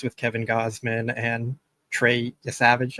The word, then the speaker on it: Yesavage: They have some really intriguing starting pitchers with Kevin Gausman and Trey Yesavage, I think that's how you pronounce his last name. You got it.